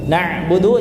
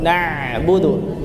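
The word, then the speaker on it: نَعْبُدُ: Yang Kesalahan kedua ini Ketika di di ayat na'budu na'budu jangan terlalu na'budu ya biasa aja na'budu na'budu seperti itu dan iyaka nabudu wa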